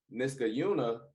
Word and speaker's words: Niskayuna: deck this guy Caillou niska Yuna is how you pronounce that it's Niskayuna let's get Yuna okay there